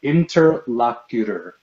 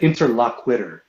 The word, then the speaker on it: interlocutor: It's pronounced interlocutor. Interlocutor. What are you talking about? You said interlockwitter.